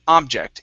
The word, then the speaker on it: object: right here okay so this word is object with the stress at the end instead of object it's object oh so it's not